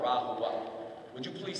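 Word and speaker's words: RaHoWa: were getting prepared for something that neo-Nazis call Rahua. Would you please say Rahua? If you want to look it up, it's spelled R-A-H-O-W-A.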